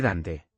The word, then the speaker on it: Dante: Y usted está pronunciando mal el nombre. Se dice Dante. Dos sílabas y la primera pesa más.